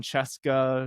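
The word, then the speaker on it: Scieszka: So, like John Chesca, it's it's spelled kind of like Skia.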